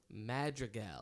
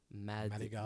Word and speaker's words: Madrigal: Because White people pronounce it Madrigal. No, see, white people don't even try it. That's the thing. I've heard it all. Madrigal. And how do you pronounce it? In Spanish, it's Madrigal. Madrigal. There's a D in there.